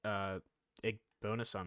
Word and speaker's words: Igbinosun: Pick for David Igbonason, right? That's how his name's pronounced. Davis Igbinosun?